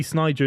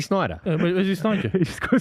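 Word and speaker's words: Sneijder: Ballon d'Or that yeah I don't think I've ever heard anyone pronounce the J in his name is such a good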